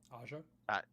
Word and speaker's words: Aja: Aja?